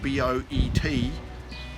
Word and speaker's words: boet: Which is spelt Boet, B-O-E-T, but it's actually said Boet, which is brother.